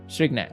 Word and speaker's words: strychnine: The pronunciation is strychnine.